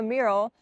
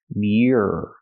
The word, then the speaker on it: mural: There are so many different people on the mural. I cannot pronounce the word mural. It's not pronounced mural. It's pronounced mural. Mural. Use the y sound, like yes and yesterday. My. Muir.